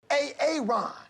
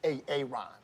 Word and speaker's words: Aaron: A-A-Ron Yeah? Why didn't you say it the first time I said A-A-Ron?